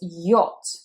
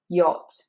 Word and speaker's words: yacht: So here this is the same sound that is in clock and robot and dock, shock. This is yacht. It's an O. Shape of the mouth is quite round, O. Forget the A, forget the CH, it is just yacht, yacht.